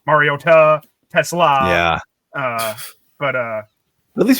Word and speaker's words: Mariota: I'm doing the Mariota thing with him, like Mariota, Tesla. Yeah. But at least we know that's how his name's pronounced.